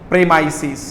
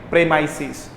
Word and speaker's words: premises: प्रेमाइसिस। आप अच्छे से देख लो, प्रीमाइसिस नहीं होता, प्रेमाइसिस बोलते हैं ना, स्कूल के